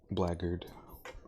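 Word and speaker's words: blackguard: Blackard. It's really very I mean that's how you pronounce it.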